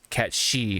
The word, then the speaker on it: Cait Sith: I that's how that's what I went with you know Kate Sith so but I never I never knew it was cat she until this um tweet